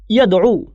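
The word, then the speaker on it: يدعو: এখন ইয়াদু শব্দটার আরেকটা উচ্চারণ হচ্ছে ইয়াদউ। ক্লাসিক্যালি এটা দুইভাবে উচ্চারিত হয়।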